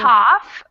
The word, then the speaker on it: cough: Cough, rough, tough, enough. Mm, Cough, cough. rough, tough. Yeah, exactly. Cough. That ah sound is different.